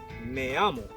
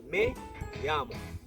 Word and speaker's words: me llamo: To be honest, there is no Y in me llamo. It's actually two L's. Me, M-E, another word, L-L-A-M-O. Now in Spanish, double L's are pronounced as Y's.